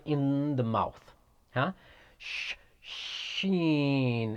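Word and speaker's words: شين: in the mouth huh sheen it's like you're saying shut up shut up it is pronounced from the middle of the tongue and roof of the mouth huh the middle of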